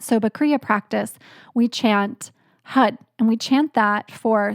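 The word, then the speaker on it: Har: one is the word hud it's spelled h-a-r but it's pronounced h-u-d hud and that mantra means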